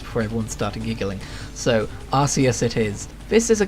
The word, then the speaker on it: Arceus: And yes, I pronounce it Arceus because that's how it used to be pronounced before everyone started giggling. So, Arceus it is.